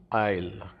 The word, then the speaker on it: aisle: um walks through the aisle is s is silent here okay and this is